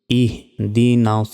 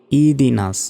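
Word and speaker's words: اهدنا: ইয়াকা নাস্তাইন নাস্তাইন ইয়াকা নাবুদু ওয়া ইয়াকা নাসতাাইন ইহদিনাস সিরাতল ইহদিনাস অনেকে বলি ইদিনাস এখানে হার উচ্চারণই করি না দেখুন হামজা হাজের ইহ ইহন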